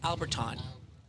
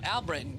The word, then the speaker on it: Albritton: Stanley Alberton. Alberton. Got to pronounce the O-N, don't you? Oh, Albritton. Yeah, Stanley Albritton.